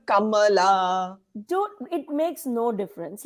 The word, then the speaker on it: Kamala: truth to that but nobody can say her name properly. Even she has stopped saying Kamla. Now she calls herself Kamala.